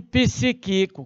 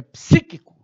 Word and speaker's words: psíquico: vista neurológico crises cítricas cuidado com essa palavra não pronuncie psíquico cuidado psíquico também não cuidado né é psíquico Olha aí Olha tem